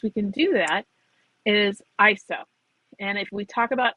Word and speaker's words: ISO: like an acronym and most people would say ISO and I did for years but after watching many videos and controversies it is pronounced ISO so what is it it is a numerical